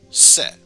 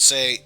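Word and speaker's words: せ: up a single syllable you pronounce this one as se now one could say don't you mean say no if you were to add an e sound at the end that would be say but for now it's just set and show it off once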